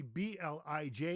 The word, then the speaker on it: blij: So when you see B-L-I-J, you say blij.